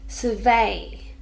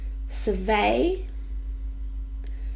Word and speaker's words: survey: it's not usually positive survey this is a verb it's got two syllables and we stress the second one when it's a noun which it can be we stress the first one listen to the difference